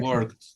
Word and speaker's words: worked: Worked. Yeah. Thank you. Thank you. Work. Work. Check on this one, people, because we have final in pronunciation is a final T, T.